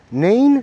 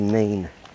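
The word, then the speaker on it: Nene: And apparently further down the road, the Nin. It's spelled Nin E, but it's not the Na Na River.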